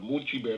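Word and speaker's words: Mulciber: this case vulcan uh another name from vulcan is much better i guess that's how you pronounce it m-u-l-c-i-b-e-r mochi bear that's another name for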